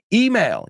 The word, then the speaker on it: email: electrocute electricity plus execute email you say email we say the we say the accent on the E easy electronic mail uh